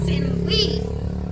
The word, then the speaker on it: Sylvie: So my name, Sylvie, here is pronounced Sinwi. Sinwi, because there's no V sound.